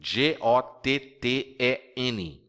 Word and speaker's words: gotten: do verbo to get que é o gotten g o t t e n gotten e a pronúncia anasalada também quando a gente engole o o o o TT fica assim gotten I have gotten I have gotten Ah também é uma pronúncia